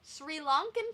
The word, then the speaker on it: Sri Lanka: Sri Lankan Tamil. Sri Lanka. There's no H in there. It's not the point. Fuck you. It's not the point. Fuck you, Sri Lanka.